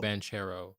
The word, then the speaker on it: Banchero: time I always forget is Palo band Caro banchero oh yeah yeah I won't talk about I